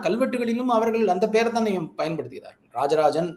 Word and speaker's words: ராஜராஜன்: அவர்கள் அந்த பெயரதான் பயன்படுத்துகிறார்கள் ராஜராஜன் அப்படின்ற பெயரு அந்த ஜா என்கின்ற அந்த கிரந்த எழுத்தோடுதான் தஞ்சை பெரிய கோவில் கல்வெட்டுல இருக்கு இவங்க சொல்ற மாதிரி ராசராசன் அப்படின்றதுல்லாம் இல்லவே இல்ல ராஜராஜன் ஜ அப்படின்ற உச்சரிப்போடு தான் அங்கு பதிவு செய்திருக்கிறார் அதே மாதிரி தான் கட்டிய